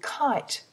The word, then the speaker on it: kite: for I is I but if we put a silent E on the end of kit the word changes into kite cite notice how the